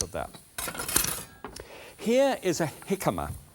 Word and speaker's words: jicama: Here is a jicama. It looks as if it should be called jicama, but it's not. It's pronounced, it's with a J.